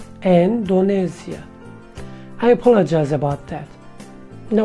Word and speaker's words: Endonezya: I realized that I pronounced wrong Indonesia. I said Indonesia, but the correct one should have been Indonesia. Indonesia.